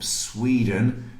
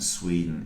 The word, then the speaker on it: Sweden: someone from Switzerland, from the Netherlands, and from Sweden? And we got 1 point for each correct answer. So someone from Switzerland is Swiss. Very good. Someone from the Netherlands is Dutch. And Sweden is Swedish.